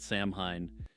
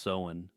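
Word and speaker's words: Samhain: a couple months back that Sam Hine is actually pronounced se but honestly I don't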